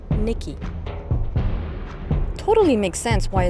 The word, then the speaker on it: Nike: It's actually pronounced Nikki.